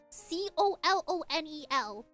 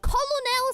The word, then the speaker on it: colonel: You are trying to tell me that an English word is spelled C-O-L-O-N-E-L and it's pronounced Colonel? I will be saying Colonel Sanders until today you guys put me in my grave. Because Colonel, unless you spell it for me K-E-R-N-A-L, I'm not reading it as Colonel.